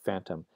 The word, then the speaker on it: phantom: with Latin and Greek so to take a word like phantom right phantom spelled with a pH when the word was originally came into English it came in through French in the Middle English period and was spelled with an F as a very sensible